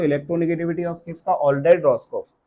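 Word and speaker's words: Rochow: ठीक है, रॉस्चो बोलो यार, रॉस्को बोलो बेटा, ये प्रोनाउंसिएशन है, तुम देखते रहना।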